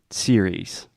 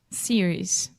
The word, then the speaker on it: series: hear a lot of different variations of that series series say it with me Alexia series series perfect